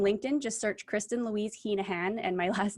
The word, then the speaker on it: Heneghan: find me on linkedin just search kristin louise hinahan and my last name is spelled h e h-e-n-e-g-h-a-n okay you can find me on instagram at i am kristin louise okay facebook same thing kristen louise hinahan and i will be there awesome awesome well